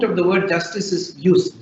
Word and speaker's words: jus: the word justice is used jus it's pronounced use is the use or